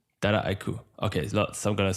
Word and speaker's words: Dataiku: So that's the biggest is in the US, you tend to hear Dataiku as 4 different syllables. And the French tend to say it Dataiku, since that's how they pronounce data.